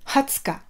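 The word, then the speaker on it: はつか: Attention, exception pour le 20, Hatsuka. Hatsuka.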